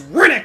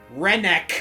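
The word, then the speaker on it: Rennac: Where's Riddick when you need him? Riddick? Like Chronicles of Riddick? Rennick.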